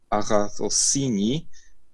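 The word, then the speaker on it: ἀγαθωσύνη: część tego słowa bo samo to słowo się wymawia Aha cossini to jest po prostu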